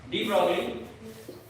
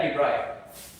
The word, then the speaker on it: de Broglie: और इसको अगर फ्रेंच में बोला है डी ब्रॉय, क्या बोला है? डी ब्रॉय। फ्रेंच साइंटिस्ट है डी ब्रोगली। तो इसमें आपको अगर इनमें जो प्रोनाउंसिएशन, इनका प्रॉपर प्रोनाउंसिएशन होगा वो क्या होगा? डी ब्रॉय, ठीक है।